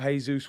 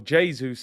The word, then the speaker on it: Jesus: now reports coming out jesus wants or jesus as i've been told um to pronounce wants around a hundred